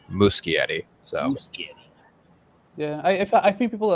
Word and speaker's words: Muschietti: before i heard it i always thought it was mushy eddie and then upon hearing it actually phonetically pronounced it's muscularity yeah i i think